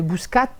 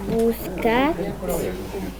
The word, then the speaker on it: Bouscat: On le voit bien dans la séance où Néo, au début, ne prononce pas le T de Bouscat ou il ne met pas le S à la fin.